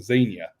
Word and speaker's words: Xenia: I said it wrong. Somebody jumped my crap earlier about calling it Xenia. It's Xenia. Just like Warrior Princess.